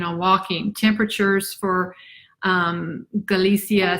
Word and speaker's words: Galicia: walking temperatures for um galicia spain or galicia is how they say it but g-a-l-i-c-i-a spain just